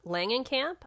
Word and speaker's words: Langenkamp: um yeah but she's played by heather lang langenkamp i always say her last name wrong heather langenkamp who actually plays herself in